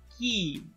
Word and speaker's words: key: Again, in this word, la E no se pronuncia como una E, se pronuncia como una I. Y ven, mi boca está bastante tensa. Key.